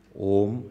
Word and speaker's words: Om: continuously om you'll stop om actually doesn't have three syllables it has four parts Uh u m and there is some silence also it starts with silence ends into silence so when we chant